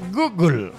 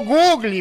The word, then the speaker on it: Google: pero no soy gringo se dice Google Y por qué porque así se debe pronunciar el Google a ti que te gusta el fútbol pues si no te acuerdas acuérdate del gol dice Google qué cosa pero no googly pues no sea tan